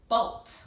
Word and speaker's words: bolt: How about the word bolt? Like we saw a lightning bolt high in the sky. B-olt. There's that closed syllable exception. Again, cross it off. It doesn't follow the rule.